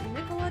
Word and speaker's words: Nikola: Nikola Tesla.